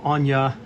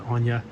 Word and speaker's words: Anya: that i saw were anya was her name i mispronounced it as anna her name was anya and then randy randy